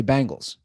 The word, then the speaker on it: Bengals: you pronounce it so I've always pronounced it like the 80s female rock group which is probably incorrect but everybody around here in my opin the bang I'd say Bangals right and they spelled